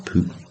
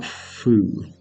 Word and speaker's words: Phu: it's pronounced that way, it's definitely not Phu. We don't have an F for a PH sound in Vietnamese, I know that much at least.